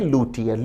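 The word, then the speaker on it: luthier: लुटियन विद्यार्थी ध्यान दें शब्द का उच्चारण है लुटियन लुटियन उस व्यक्ति को कहा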